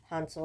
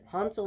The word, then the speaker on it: Hansel: Hansel and Gretel, and I do say call it Hansel instead of Hansel because um, my grandma was German, and it is a German folktale, and in German it's pronounced Hansel and not Hansel, um, because it's Hans.